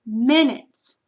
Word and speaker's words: minute: It's going to go between the I and the N, and the accented syllable is the second syllable, minute.